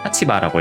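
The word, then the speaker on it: 立場: 생각을 하실 수 있는데 혼독으로 읽는다고 하는 게 주의를 요하는 단어입니다. 타치바라고 읽어요, 입장은.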